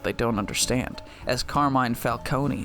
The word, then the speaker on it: Falcone: You're a lawyer, You have to know it's not Falcone. It's Falcone.